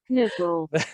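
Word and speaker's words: knuppel: you guys you listen close to this one it's spelled k-n-u-p-p-e-l nipple if you guys were dutch that would be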